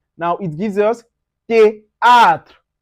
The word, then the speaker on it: théâtre: Then also if you see TH, you pronounce it as T. Now it gives us théâtre, théâtre.